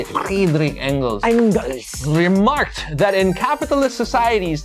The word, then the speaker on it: Engels: Friedrich Engels.